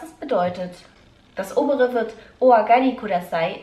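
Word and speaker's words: お上がりください: Das obere wird Oagari Kudasai ausgesprochen und heißt Bitte kommen Sie herein.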